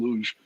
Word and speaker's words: Luz: todd by the way you did a great job in the portuguese pronunciation of my last name luge about america we americanized it we pronounced it so uh okay but